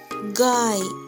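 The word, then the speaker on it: गाय: Next word காய். கா இ, காய். ஸோ நம்ம நேற்றைய வீடியோவில் பார்த்தோம், ஹிந்தி வேர்டு எண்ட் ஆகிற எழுத்தை நம்ம மெய்யெழுத்து மாதிரி உச்சரிக்கணும். ஸோ அந்த ஏன்றதை இ அப்படின்னு நான் உச்சரிக்கிறேன். காய்.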